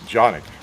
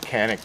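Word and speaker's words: Canik: and by the way I know that's pronounced a lot of different ways but I know a couple of guys from turkey and uh they tell me it's jic okay now I might be calling it canic before the day's out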